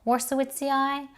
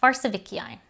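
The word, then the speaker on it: warszewiczii: is worse with ci i think there are two ways in which to pronounce this one this one is warsowitzeai or farsevician what's interesting about species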